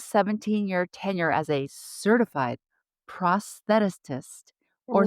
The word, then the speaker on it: prosthetist: Jessica's 17-year tenure as a certified prosthetist or Ooh, thoughtist. Did I say it right? prosthetist. Prosthetist. Prosthetist.